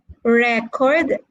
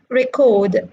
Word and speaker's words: record: fab like for example if you have record as a noun versus record as a verb so when you change the syllable stress then the meaning also changes all right okay so